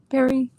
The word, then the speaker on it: Perry: Yeah, it's a super soft R. It's not heavily pronounced. Oh no. Perry.